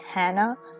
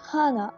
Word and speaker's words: Hana: I actually would have thought it's pronounced Hannah, but Hana. Okay, we're going with a different pronunciation.